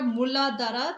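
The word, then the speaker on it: Muladhara: root chakra muladara. That's how you pronounce it.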